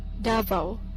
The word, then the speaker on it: Davao: from Scotland hello hello pronunciation Davo Davo alright that's simple enough mr.